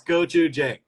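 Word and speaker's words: gochujang: this difficult word but it's literally so phonetically easy yeah it's goou j boom that's all that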